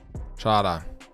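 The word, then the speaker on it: Chará: Чара хара зденора. Хоккіст такий. Дієго чара. Наголос на а.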